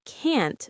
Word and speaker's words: can't: "I can't swim." The t sound is important. Can't. I hear the t sound at the end.